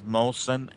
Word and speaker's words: Mohsen: these shows so give your name out again spell it clearly so they can write it down please well my name is molson m-o-h-s-e-n which is p-p-a-u-l of course and